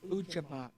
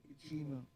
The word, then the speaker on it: Ujamaa: It's Ujamaa, cooperative economics. Okay. Cooperative economics. Cooperative economics. Yeah. How do you say it again? Ujamaa. Ujamaa. Ujamaa. Okay. Cooperative economics. Ujima.